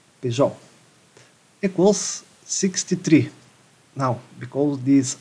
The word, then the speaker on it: Peugeot: How is that pronounced? Peugeot.